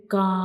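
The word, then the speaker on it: كاف: When we pronounce kaf, the back of the tongue will touch to the hard palate.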